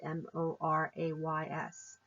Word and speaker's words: mores: strictly enforced and mores spelled mores but it's pronounced mulwray's mor ays these are strictly enforced the more the folkways